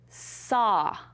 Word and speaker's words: saw: to spell the word saw. Saw has the ah sound. So practice saying it correctly and it's going to help you spell it correctly.